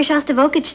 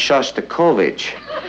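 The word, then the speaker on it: Shostakovich: taking me to hear shav vokic tonight honey I think that's pronounced sha kovich we'd like to meet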